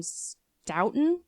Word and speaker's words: Stoughton: at a dump in Stoughton, Massachusetts, maybe? Guys, how do you pronounce it? It's actually pronounced Stu.